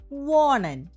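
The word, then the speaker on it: wohnen: വോണ്ട് എക്സ് വോണ്ട് Diya വോണൻ ഇയ വോണ്ട് സി വോണൻ സി വോണൻ വെർബുകളുടെ ഉച്ചാരണം നമ്മൾ പ്രത്യേകം ശ്രദ്ധിക്കണം കേട്ടോ നമ്മൾ ഇവിടെ ഹ വന്നിട്ടുണ്ട് ഹ ഇവിടെ സൈലന്റ് ആണ് അപ്പോ നമ്മൾ ഇന്ന് ആറ്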